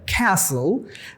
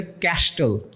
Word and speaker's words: castle: CASTLE, ব্রিটিশরা বলে castle, আমেরিকানরা বলে ক্যাসল, বাট অনেক ক্ষেত্রে আমাদের স্টুডেন্টরা উচ্চারণ করে ফেলে ক্যাস্টেল, সিলেবল আলাদা করে ফেলে। CAS ক্যাশ, TLE tell, ক্যাস্টেল। সো ইটস a wrong pronunciation. অথবা অনেক সময় বলে ক্যাচল, it's another wrong pronunciation. Alright, so the right pronunciation would be castle or castle.